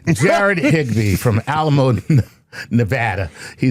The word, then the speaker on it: Nevada: Jared Higgby from Alamo, Nevada. He says, "Hello, Dr. Tyson Lur Chuckles." You even said it right. Nevada. That's how they say it locally.